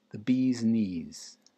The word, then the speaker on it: the bee's knees: The bee's knees. The bee's knees. The stress is on the first, the bee part.